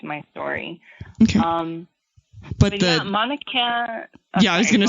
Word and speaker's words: Mauna Kea: Mauna Kea.